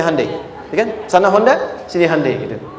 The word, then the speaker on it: Hyundai: Sejak anak-anak TK itu ditanamkan betul kita bisa kita dari tekad sehingga ketika di sana bikin Honda sini Hande Hyundai kan dibacanya Handai ya kan sana Honda